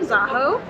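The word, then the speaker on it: Zakho: Crystal is in the city of Zaho. I would have pronounced that Zaho yesterday, but I've been educated.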